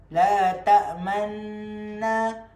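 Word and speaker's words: تأمنا: Okey, cara baca dia sebenarnya ialah qalu ya abana malaka la ta'manna. kita masukkan dekat nun tu dan mulut kita muncung sebagai tanda kita ismamkan dia.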